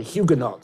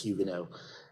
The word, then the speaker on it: Huguenot: Nicholas Society, the Holland Society, and he was also a pillar of the Huguenot Society, which I'm pronouncing as the Americans do. I know it's Huguenot here.